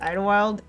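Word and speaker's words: Idyllwild: so fun fact but it's called Idle Wild and so it's spelled like Idol Shire that's why we say it that way anyway Big Bear is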